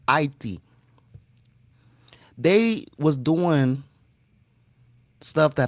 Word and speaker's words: Haiti: Spiritual warfare, psychological warfare, all type of warfare was going on in Haiti, and that's how you pronounce Haiti. It's not Haiti. The H is silent. It's Haiti.